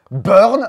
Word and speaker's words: Buurn: bien qu'est-ce que c'est burn un jeu qui se prononce à l'anglaise malgré le fait que